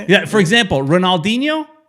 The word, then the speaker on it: Ronaldinho: Yeah, for example, Ronaldinho is Ronaldinho. Their R's, yeah, exactly. Their R's sound like H's, their D's sound like G's.